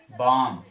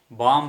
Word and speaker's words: bomb: Bomb. Climb. Bomb అనొద్దు, bomb.